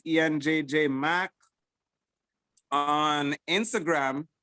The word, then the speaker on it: Ean: My Ian is spelled EAN. EAN.